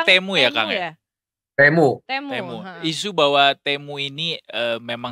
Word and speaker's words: Temu: Jadi isu bahwa Temu ya, Temu ya berarti ngomongnya pronounce-nya Temu ya, Kang ya? Temu.